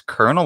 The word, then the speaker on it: colonel: get colon, and then the word for colonel in English is pronounce kernel with an R, but it's spelled with